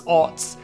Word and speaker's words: aughts: Not oats, aughts.